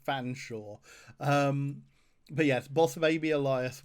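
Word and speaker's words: Featherstonehaugh: Yeah, I think Featherston Hall is supposed to be pronounced Fanshawe.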